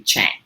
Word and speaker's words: Tschang: a chinese name and the ts is silent so it's a little tricky it can be shang but it's actually chang so i just want